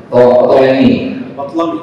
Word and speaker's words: Ptolemy: dikuasai oleh Raja Ptolemy, ya, Ptolemy, bacanya Patlami, saya tahu baca kalau orang Mesir yang asli itu bacanya, saya bacanya Ptolemy gitu.